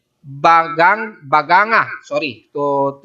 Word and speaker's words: Baganga: sa bandang Davao Oriental sa may northeast ng banganga bagang baganga sorry to say the word mahirap bigkasin e baganga Davao Oriental na ayon sa